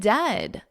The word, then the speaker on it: dead: And dead, it's said like bed, not bead. For goodness sakes, don't call it deed.